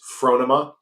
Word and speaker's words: Phronema: in please correct us we've been putting the wrong emphasis on the wrong cabel it's frona frona yeah fra okay frona